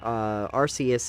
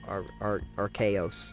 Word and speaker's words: Arceus: Yeah, the comments that I mostly heard is that Arceus is a game that actually respects your damn time.